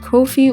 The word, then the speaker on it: Ko-fi: wrong this whole time the platform is called Kofi which rhymes with no fee because Kofi does not